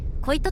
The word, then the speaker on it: 恋人: ちなみになんで恋人と書いて恋人と読むんだろうと